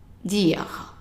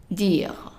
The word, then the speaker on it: dire: The E at the end is silent, meaning that we only read the D-I-R, and that is dire, dire.